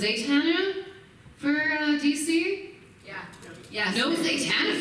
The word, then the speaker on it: Zatanna: We almost did a book for, is it pronounced Zatanna for DC?